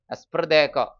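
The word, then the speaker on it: esprit de corps: union strength അതാണ് എസ്പ്രദേക്കോ ഇതൊരു French വാക്കാണ് ഇതിന്റെ ശരിയായ ഉച്ചാരണം പോലും ഇങ്ങനെയല്ല പക്ഷെ എഴുതുമ്പോൾ സ്പെല്ലിങ് എസ്പിരിറ്റ് ഡേ കോർസ് എന്നൊക്കെ എഴുതണം ഇംഗ്ലീഷിൽ അങ്ങനെ എഴുതുമ്പോഴും അതിന്റെ ഉച്ചാരണം പ്രൊനൻസിയേഷൻ ഇങ്ങനെയല്ല അത് ഫ്രഞ്ച് പ്രൊനൻസിയേഷൻ ആണ് എസ്പദേ ഏകദേശം ഉച്ചാരണം അങ്ങനെയാണ് ഇത് അതിന്റെ അർത്ഥം ഇതാണ് എസ്പ്രദേ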